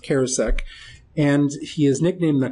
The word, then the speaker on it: Charousek: it's you see it as cheris but it's pronounced kosek and he is nicknamed the comet probably because